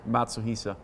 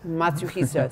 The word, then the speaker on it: Matsuhisa: So with that, Andreas, I want to thank you so much for hosting us here, and pronounce it for me so I get it right this time. Matsuhisa. Matsuhisa.